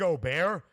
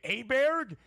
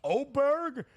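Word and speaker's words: Åberg: right side rant here ludig oar is the pronunciation that he uses he is the tall swed despite playing his college golf at Texas Tech some call him ludvig aberer and I think many have learned that it's at least oberg we got to figure out the pronunciation Oar himself says Oar but some people still stick with obber yeah my Donnie right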